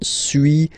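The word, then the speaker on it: suis: to pronunciations okay so first one Su as you've been noticing you don't pronounce the final s okay and for two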